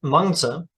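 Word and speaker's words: Mengzi: pronunciations quite right but a closer statement of the original name would be Konza which is uh Master Kong and Monza Master Meng is a better pronunciation of uh personals known as mencius so mencius is a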